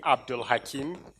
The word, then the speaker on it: AbdulHakeem: wonder why my name is so difficult to pronounce it's actually Abdul Hakim shall I write okay so I'm actually a